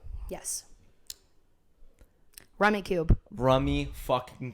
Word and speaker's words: Rummikub: Rummy Cube. Rummy fucking Cub. Love this game. It's Rummy Cube. It's such a great game. He says this every time. Fully Rummy pronounced Cub, but it's a great game.